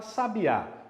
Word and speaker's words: sabiá: A palavra sabiá, qual que é a mais forte? É a última, não é? Então ela é uma oxítona, beleza?